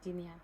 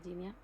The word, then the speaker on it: Jenia: que estar haciendo, porque como el nombre se pronuncia de una forma y se escribe de otra, hay gente que me llama Genia directamente, pero el nombre se pronuncia Ginia.